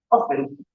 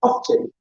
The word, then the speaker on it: often: The T is, you can pronounce it or not. Okay? For my Spanish students. All right. So this is a good one. Often. Okay? Often.